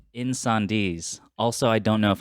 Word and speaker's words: Incendies: make sure okay cool cool cool um called in sandees also i don't know if i'm pronouncing that right that is correct right okay